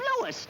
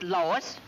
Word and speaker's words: Louis: the plant Lois Lois me name is leis not Lois J W everybody in toates me name wrong it's leis l o u i s Lois uh Louise Lucy